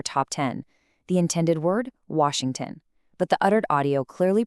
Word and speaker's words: Washington: collapse because the speaker lacks the lip rounding for the W, turning it into a V or B, and simultaneously degrades the sh into an S while also completely dropping the middle and final syllables. The word Washington basically ceases to exist.